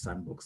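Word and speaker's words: SNDBX: called it the sandbox spelled sn dbx pronounced sandbox and when we launched it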